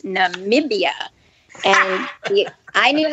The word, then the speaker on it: Namibia: jeopardy clue and the um the contestant said nabibia and i'm like that's not right that's not right they didn't pronounce it correctly and they came back after the commercial and it said it's namibia and i knew how to spell it because